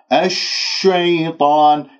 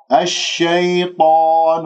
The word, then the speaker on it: الشيطان: فأزلهما الشيطان، الشيطان تفعل هكذا بالشفاء وأنت تنطق حرف الشين. طيب الشين من وسط اللسان، ليش أنت تنطق ليش أنت تعمل الشفاء وتكور الشفاء؟ الشيطان، ولا تنسى بالتفشي. يا ساكنة، يا ساكنة قبلها مفتوح، يا أولي من كلمة الشيطان، لا تقول الشيطان، الشيطان عنها طا وليس طو طا، لا تكوير لا